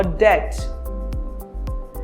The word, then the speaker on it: debt: Whenever B precedes the letter T in a word, B is not pronounced. For example, subtle or debt.